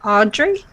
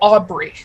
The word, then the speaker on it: Aubrey: Did he say Audrey? Did I say his name right? No, Aubrey. Sorry. Oh, I thought you said Audrey. I did. It's supposed to be Aubrey.